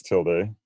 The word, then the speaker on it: tilde: Now, median, not really an important symbol, but you might see it, X tilde. Also, some people pronounce that tilde or tilde.